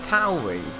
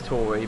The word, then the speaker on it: AlphaTauri: Yeah, it's just more words, and isn't it Tauri? I know, I pronounce it as AlphaTauri, but... Yeah, I don't think it is Tory, because, yeah, I think it's Tauri.